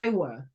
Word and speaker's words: Kiowa: how I usually hear it and there's also kaiwa is the tribe oh kyowa gotcha very good very good excellent yes and